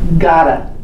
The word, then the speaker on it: gotta: Gotta. Have you heard us say gotta? It's the modal have got to. And we say it so fast and we stick it together.